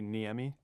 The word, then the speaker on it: Niemi: what's with America well my last name is actually neami if you would do like the Finnish pronunciation but we we Americanized